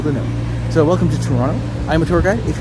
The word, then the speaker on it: Toronto: The reason why my name is TOURonno is because in Canada, in Toronto specifically, we do not pronounce the second T.